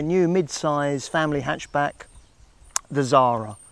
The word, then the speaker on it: Xsara: mid-size family hatchback, the Xsara, spelt X-S-A-R-A. That's how it's spelt, but you say it Xsara.